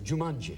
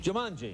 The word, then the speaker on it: Jumanji: a good movie now it's a different you pronounced it perfectly it's Jumanji Jumanji which is a Hebrew Italian restaurant really a